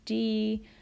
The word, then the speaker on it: Di: solfege syllable is Li notice that all of the raised solfege syllables end with the letter I or the sound e so we're just changing the vowel sound on the regular solfege syllables so dough when it's raised a half step becomes D ray becomes REE becomes fee so will become C and law becomes Li so that's a good